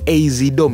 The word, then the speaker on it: AZDOME: pasang ya Ini dia mereknya asdom sebenarnya bacanya tuh azidom ya tapi kayaknya lebih enak nyebutnya asdom Nah sambil menjawab juga